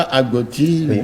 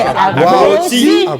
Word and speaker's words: Agboti: Alors, mais ce n'est pas Agoti, je vais vous donner la vraie prononciation. Agoti. Agoti. Voilà, les piliers du portail. Tu ne peux pas accrocher la porte ni le portail. Agboti. C'est parce qu'on m'appelle Agboti que j'ai accepté. J'ai dit bon. Maintenant vous savez que c'est plus Agouti, c'est Agboti.